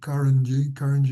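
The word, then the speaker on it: Carangi: Karanji, Gia Karanji.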